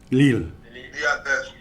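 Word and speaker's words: Lille: suffered this defeat recently too how do you pronounce it lil leel there we go i think in terms of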